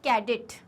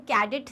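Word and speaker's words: cadet: इट इज़ नॉट कैडेट. कैडेट्स जैसे होते हैं, मतलब जो सिपाहीज जो होते हैं ना, उन्हें कैडेट नहीं कहा जाता, उन्हें कैडेट कहा जाता है. अगेन ए का साउंड सिर्फ समझने की बात है. इट्स नॉट ए, इट्स अ कैडेट.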